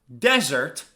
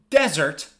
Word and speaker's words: desert: Let's start with the first pair of confusing words, desert and dessert. First of all, pay attention to the pronunciation. Desert, desert, desert. Where's the stress? It's on the first syllable.